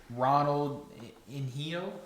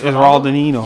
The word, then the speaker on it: Ronaldinho: Ronald Inhio? How do you say that? I'm 90% sure it's Ronaldo. It's Ronaldinho. Yeah, it's Ronaldinho. Either way.